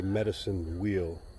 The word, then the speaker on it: medicine wheel: This is called a medicine wheel. I keep getting the name wrong. I was calling it a circle, a sphere, a spiral, but it's a medicine wheel.